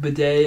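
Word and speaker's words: Budday: It's spelled B-U-D-D-A-Y. Like Buday as buddy? In like. Buddy, yeah, Buday.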